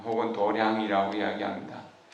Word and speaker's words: 도량: 뜻으로 도 창 혹은 도량이라 우리 한게 아닙니다 유교나 도교 에서는 이제 수행 장을 도장 이라고 이렇게 하는데 유교 앞으로도 교하고 조금 다르게 버리기 때문에 도량이 라고 이렇게 발음하는 것 같아요 에 도량 행한 대체적으로